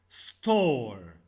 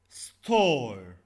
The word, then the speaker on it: store: Store. Store. Store, here we have two vowels, but the last E we not pronounce it.